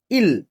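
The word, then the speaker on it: 일: সাইনো Korean দেখেন, সাইনো Korean সবার প্রথম যে সংখ্যাটি আছে উচ্চারণ হবে ইল।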